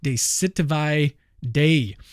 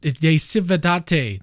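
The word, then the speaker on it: De Civitate Dei: he argues all right I just looked it up it's pronounced de Cate that's probably still wrong de Cate day uh again the uh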